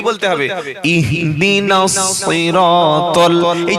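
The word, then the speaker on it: صراط: ইহদিনাস সিরাতাল, এই যে সই বললাম, এখানে কিন্তু সিন না আর শিনও না, এখানে সাদ।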